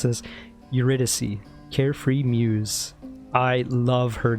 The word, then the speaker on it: Eurydice: your royal majesty nice to meet you i'm eurydice what brings a big important guy like you